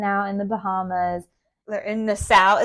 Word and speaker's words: Nassau: in the Bahamas in nasau is that how you say it nasau I think it's Nassau I think there's a county in New York that's also called Nassau they say it different in the British accent but n yeah but